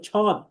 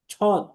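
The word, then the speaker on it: ص: নিচে ব দিয়ে দিয়েছি এখন আপনি যদি হুবহ বাংলার আকারে পড়তে চান তাহলে আপনাকে পড়তে হবে ছদ ছদ কিন্তু এটা তো ছদ না এটা হচ্ছে সদ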